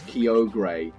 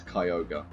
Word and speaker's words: Kyogre: off of so sorry I'm going to say that the person who's like nah I feel like it's Kyo gray is less correct than the the official show that says it's Cayuga bucket win when [